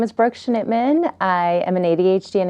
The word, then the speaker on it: Schnittman: wonderful expert in ADHD an executive function Brook Schnittman welcome thank you for having me I appreciate